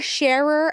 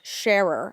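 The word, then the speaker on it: Scherer: She has been pronouncing our last name S C H E R E R with one syllable her whole life simply share.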